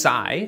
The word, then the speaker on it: psi: another subscriber Ryan uh it's pronounced Psy so PSI sub T